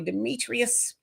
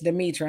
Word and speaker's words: Demetra: say my name right they call me Demetrius and it's Demetra and I answer I